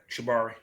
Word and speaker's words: shibari: Is it shibari? No, wait, what's it called? Yeah, you said it right, shibari.